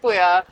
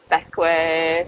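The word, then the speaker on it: Bequia: we went to beway we kept calling it Bea and every comment on that video was oh it was just like the Tobago y That's not how you pronounce it so yeah backway we're saying back way we spent a lovely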